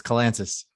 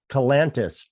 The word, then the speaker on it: Kalantzis: everybody messes up it's kalansis kalantis gotcha uh like atlantis right okay with the k i i can do